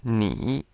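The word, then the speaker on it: 你: on our list is NI NE means you and the pinion here the N sounds very much like our n but the I sounds like the e in B but not exactly so to get more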